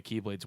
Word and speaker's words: Keyblade: pronounced Keyblade, sir.